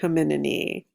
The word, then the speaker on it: Hominidae: mistake earlier yeah we belong to the family Hominidae the genus Homo and the species sapiens Homo